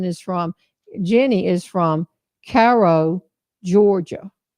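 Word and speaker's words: Cairo: from Jenny is from Caro Georgia c a i r o Caro Georgia how do you say it Caro Caro Georgia um okay well wherever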